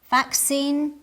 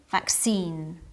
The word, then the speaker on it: vaccine: are common internationally but their pronunciation may vary depending on the dialect list listen carefully and try to identify the differences in pronunciation adult adult detail detail garage garage vaccine vaccine both ways are correct they're different but correct in English you